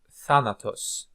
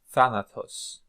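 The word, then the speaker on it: θάνατος: move on to more words that we can pronounce here for practice Phobos Phobos sphere Phobos Thanatos Thanatos Thanatos death okay death see like eutanasia okay so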